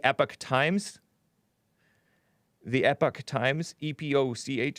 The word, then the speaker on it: Epoch: times the epoch times epoch some of you guys pronounce it epoch which is totally fine uh bellwether states and